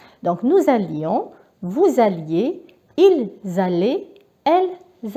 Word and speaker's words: allions: Et rappelez-vous, nous allions. Donc il faut bien prononcer le I, parce que si vous dites nous allons, ça c'est le présent de l'indicatif. Donc nous allions, vous alliez, ils allaient, elles allaient.